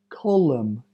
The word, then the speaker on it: column: letter is silent Autumn column hym condemn solemn Dam m n the last letter is silent Autumn column him condemn